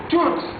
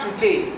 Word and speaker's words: toute: Zénab habite avec toutes, pas touté, non. Ici, si vous dites touté, bon, là, ça veut dire une fausse prononciation. C'est toute.